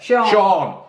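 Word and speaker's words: Sian: How do you say it? Cyan. S-I-A-N. Sean. That's it.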